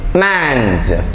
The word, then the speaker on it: mange: പറയുക ലഞ്ച് ആ എം എ എൻ ജി ഇ മാഞ്ച് എം എ എൻ ജി ഇ മാഞ്ച് അതെന്താണ് അതൊരു